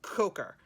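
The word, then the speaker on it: Kocher: I think it's spelled K-O-C-H-E-R, but it's coker. Like you are a mother coker, right?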